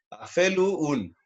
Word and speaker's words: afelun: Aquí la diferencia de pronunciación solamente está en la W sexta vocal, que podría sonar como una U. Entonces, afelun. A-fe-lu-un. Afelun.